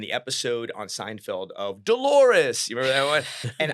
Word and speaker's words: Dolores: episode on Seinfeld of Dolores. You remember that one? And I was like, "Wait, what? I didn't get it. What did it rhyme with?" And my dad had to say clitoris.